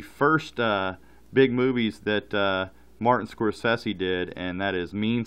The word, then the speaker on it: Scorsese: People say Scorsese, he says Scorsese, so I always try to say it right, Scorsese.